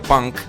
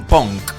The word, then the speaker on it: punk: amigo a la argentina porque se pronuncia punk y acá dicen pong entonces no sé qué